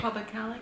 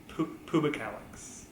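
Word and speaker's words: pubicalyx: Pubicalis? It's pubicalix. Pubicalix.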